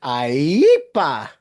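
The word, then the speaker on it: IEEPA: Yes, that statute is pronounced IEPA.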